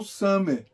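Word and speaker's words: ס: o grande é o Sam o Sam tem o som da letra s s de sapo Aqui tá o Summer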